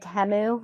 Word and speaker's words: Temu: guys see the um Super Bowl ad where it said temu and everybody's like my whole life I've been saying teu wrong it's temu okay let's do this